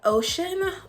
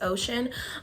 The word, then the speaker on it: Oceane: So this is Oceane or Oceane. I'm not sure. I'm pretty sure the E is silent. It's just Oceane.